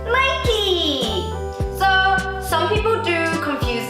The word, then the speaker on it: Nike: not pronounced as Nike, it's actually pronounced as Nike. So that little check. So the word Nike, it's from Greek and it's the name of the goddess of victory. And yeah, so the correct pronunciation is Nike, not Nike.